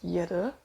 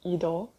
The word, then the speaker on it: Yder: there's another sculpt, YDER, which I used to pronounce Yeder, adding extra E behind the Y for no reason. I realized it's actually pronounced Idol in Korean.